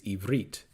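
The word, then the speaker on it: עברית: So the term Hebrew, as we mentioned in the first session, is Greek, and the correct pronunciation of the word is Ivrit in the Holy Tongue.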